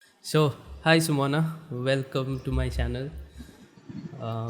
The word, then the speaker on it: Sumona: So, who is Sumona, and do you spell it like Sumona or Shumona? No, it's Sumona only.